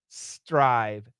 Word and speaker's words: strive: be between the teeth the S the tongue needs to be behind the teeth okay home studio hey